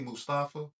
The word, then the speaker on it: Mustafa: Mustafa.